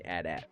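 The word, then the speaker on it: AT-AT: don't remember where but I heard him say add app and I was like oh that's what it is okay but um but it's weird because atst is how you say NTS you know you don't say attest so Taurus says hey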